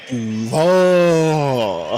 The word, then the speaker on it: Duval: You gotta say it like the coach. Duval.